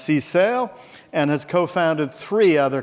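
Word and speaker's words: CSAIL: She's director of MIT's computer science and artificial intelligence laboratory, pronounced cale, and has co-founded three other companies.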